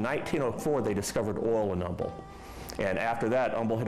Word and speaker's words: Humble: The H was silent, so he pronounced it as Humble.